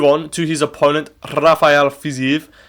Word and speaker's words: Fiziev: But with this Fiziev fight, there's a little bit more, like, stakes in my opinion.